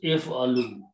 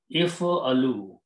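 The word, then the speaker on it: افعلوا: It becomes if alu, and you write an alif with the circle, which is not pronounced. So it becomes if alu.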